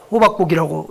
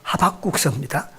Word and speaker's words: 하박국: 하박국서 아시지요? 호박국이라고 읽지 마시고 하박국서입니다.